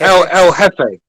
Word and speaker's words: Jefe: I asked him, El Jefe, I already knew he wouldn't know shit like that because What reference is that?